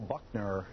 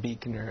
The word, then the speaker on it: Buckner: Buckner. Is that how you say it? It's actually pronounced Beekner, and my band is called Freya.